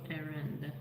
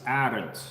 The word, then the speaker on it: Arend: In Dutch, it's Arend, and a lot of Russian people that address me also say it similarly as Arend. So my name in Dutch would be Arend.